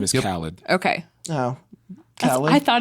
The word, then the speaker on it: Khaled: His name is Khaled.